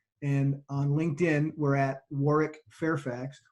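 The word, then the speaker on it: Warwick: on LinkedIn we're at Warick Fairfax War's name is spelled with that silent W in the middle it's w r w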